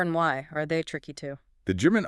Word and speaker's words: ja: And critically it always sounds like the English Y. Always. So the word ya meaning yes is pronounced ya, not ja.